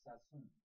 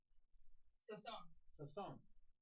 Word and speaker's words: Sasson: And now, am I pronouncing your last name correct, Sassoon? Sasson.